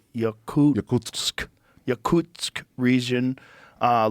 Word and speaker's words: Yakutsk: you say that Brian yakut Y Yak yakut Yakutsk region uh like even deeper in the permafrost